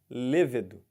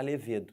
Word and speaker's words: levedo: é muito importante isso levedo tá aquele componente da cerveja não pode falar levedo tem que falar levedo égide égide é o